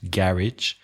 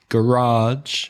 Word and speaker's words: garage: For example, garage has the first syllable stressed, garage. Garage has the second syllable.